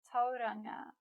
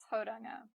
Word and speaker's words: Tauranga: To make the sound ngā, we need to touch our tongue to the roof of our mouth. Add voice and then slowly release. ngā, ngā. It actually sounds a lot like the ng in singer, singer, tauranga.